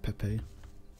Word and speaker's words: Pepe: Good thing the pronunciation rules on that are not the same as a meme, because then you would say it peep.